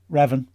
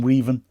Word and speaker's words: Revan: or whatever you are, Revan is what I've been reliably told he has said is the pronunciation of his name. I called him Reven for a good chunk of the season, but now I've been put right.